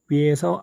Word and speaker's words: ㅟ: 5 2 가 결합된 형태입니다 자의 자리에 자음이 위치 하겠죠 자음을 쓰신 후에 내려오시면 왼편에서 오른편으로 위에서